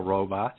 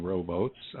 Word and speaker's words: robots: You won an Eisner for Not All Robots. You're saying rowboats. We tend to pronounce it robots.